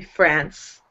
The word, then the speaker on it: France: You're pronouncing France like friend. Uh-huh. Okay. France is the country. French. Yeah. The language. So just be careful about, and the people, but how you're pronouncing the end there. It should be France for the country. It's like an S at the end.